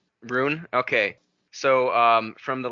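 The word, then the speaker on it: Rhûn: the easterlings come from is it Rune or run it's Rune Rune okay so um from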